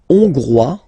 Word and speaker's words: Hongrois: La Hongrie, Hongrois, Hongroise. Okay? Hongrois, Grois, Hongroise. Okay, so here final S not pronounced for the masculine form, and then you pronounce it here for the feminine form.